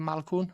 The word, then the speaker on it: Malkoun: the UFC now, Jacob Malkoun. Is it Malkoun? That's it. Yeah, I think that's how you pronounce it.